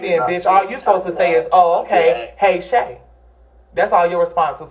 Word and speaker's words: Chè: And he can actually pronounce my fucking name instead of saying Chi.